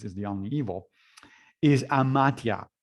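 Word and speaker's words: amathia: the only evil, is amatia, which is spelled A-M-A-T-H-I-A.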